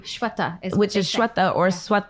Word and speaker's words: Sweta: I'm getting there I have no right to mispronounce people's names especially with my name being the way that it is Shweta Yeah right it's not shut up but it